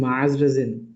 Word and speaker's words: মাজরাজিন: ওয়ালাইকুম আসসালাম ভাই আপনার নামের উচ্চারণটা কি আমি ঠিক করছি ভাই আমার নামের উচ্চারণ হচ্ছে মাজরাজিন মাজরাজিন ভাই